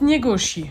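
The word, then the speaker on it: Njeguši: Avant d'aller visiter la capitale historique du Montenro qui est Cigne, on fait un petit passage dans le village de Njegusi et ça se prononce Niegoshi.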